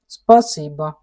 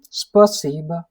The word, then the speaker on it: спасибо: So this is not a is not there. Spasiba, like that. So how we are writing? Spasiba. Okay. One moment, I'm writing wrongly. So spasiba. Okay, this O becomes A while pronouncing.